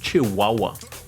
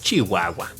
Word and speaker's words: Chihuahua: or as other people would pronounce it, Chihuahua. It's Chihuahua.